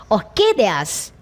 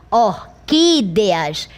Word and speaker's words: orquídeas: Se eu deslocar a sílaba tônica, ficaria orquídeas. Não é assim que você pronuncia. Você pronuncia orquídeas.